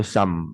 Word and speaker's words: sum: Auto sum ya, bacanya sum ya. Kalau misalkan bahasa Inggris kan the sum of people, sejumlah masyarakat, ya. The sum of student, sejumlah pelajar, ya. The sum, SUM bacanya sum. Ya, di bahasa Inggris ya, U dibaca A, tidak semuanya ya, tidak